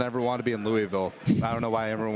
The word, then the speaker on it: Louisville: For some reason, everyone wanted to be in Louisville. I don't know why everyone wants to be in Northern Kentucky. It's pronounced Louisville.